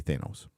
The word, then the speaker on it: Thanos: way it's like Thanos I say Thanos because there's one a and one n but anyway um so